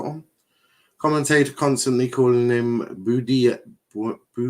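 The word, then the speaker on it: Buendía: Not that difficult, considering it's basically how it's spelled. Buen. Buen. Buendia.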